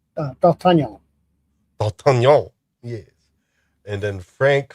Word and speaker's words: D'Artagnan: Michael York plays D'Artagnan. D'Artagnan. Yeah, I'm trying to do it French, and it's D'Artagnan.